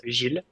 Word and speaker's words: Gilles: And the right way to pronounce it, it's a bit tricky, but it's Gilles.